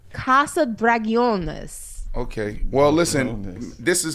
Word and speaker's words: Casa Dragones: I don't think it's Casa Dragons. I'm sure you're supposed to pronounce it a little bit. Casa like Dragones? de No, I can't see it. Dragones? Oh, wait, here we go. Oh, Casa Dragones.